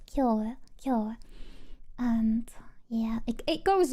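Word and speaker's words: 今日: And it it does mean that, but they have no clue how it's being pronounced just by knowing its meaning. But it's pronounced as K.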